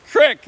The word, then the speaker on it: creek: Carl Stop, it's not a creek, it's a creek. The Michigan pronunciation is crick, not creek.